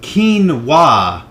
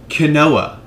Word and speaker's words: quinoa: two about this scene pronounced quinoa not kooa you ignorant American quinoa is actually a